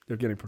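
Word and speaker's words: Пригожин: name I'm not even going to try to pronounce, other than Evgeny is his first name. Prigozhin. Prigozhin.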